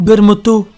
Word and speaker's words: Vermouth: Vermouth ou Bermoto, prononcé à la japonaise. Encore un membre de l'organisation. Vermoto est l'un des personnages les plus intrigants du manga.